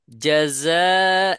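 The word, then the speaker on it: جزاء: যা যা, যা ঝা বলা যাবে না, কি বলতে হবে? জাযা, জাযা।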